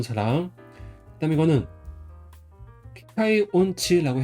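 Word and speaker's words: 音痴: 그다음에 이건자는 음치라고 해서 발음은 온치라고 해요.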